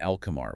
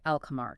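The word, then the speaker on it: القمر: the 14 lunar letters you pronounce the L sound clearly like an alchemar, which means the moon. You hear the L. Okay. Alamar.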